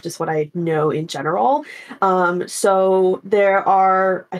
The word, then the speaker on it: genera: more detailed so there's several Genera is how you say like the plural of genus um of mosquitoes and